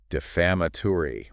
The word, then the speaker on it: defamatory: D E F A M A T O R Y. Defamatory. Wow. Five syllables. Stress on the second one.